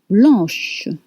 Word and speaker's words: blanche: Now, blanc becomes blanche with sh sound at the end.